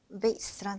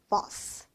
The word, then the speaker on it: vase: vase는 미국인 발음이고요. 토익에서는 미국, 영국, 캐나다, 호주 발음 싹다 튀어나옵니다. 미국이 아닌 영국에서는 이렇게 발음을 해요. bus, bus. 그래서 이 vase 발음 여러분, bus라고 난다는 것까지 체크하셔야 돼요.